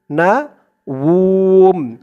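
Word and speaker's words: نَوْم: তাখুযুহু সিনাতু ওয়ালা নাউম, না উম, এখানে উচ্চারণটা হবে নাউম।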